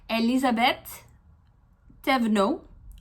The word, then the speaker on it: Elisabeth Thévenot: Of this one, it is Elisabeth Thévenot. That is my guess on how to pronounce that there, but Elizabeth.